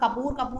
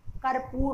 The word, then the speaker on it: कर्पूर: हम लोग कपूर कहते हैं, लेकिन इसका सही उच्चारण कर्पूर होता है।